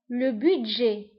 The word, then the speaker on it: budget: الميزانية, le budget, le budget, le budget. le budget كنكتبوها بالتي في آخر الكلمة ولكن ما كنطقوهاش.